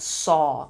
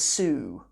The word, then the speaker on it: soo: my Somali diary we're talking about the word saw in the Somali language and I particularly wanted